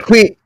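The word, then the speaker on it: Huy: Hui. Hui. Hui. Are you trying to get Hui. that? Hui. You trying to get the pronunciation? HWEE would be the pronunciation like that there.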